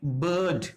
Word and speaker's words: bird: तो साइलेंट रहते हम इसको क्या कहेंगे, बर्ड, क्योंकि कौन सा कॉम्बिनेशन आ गया, IR।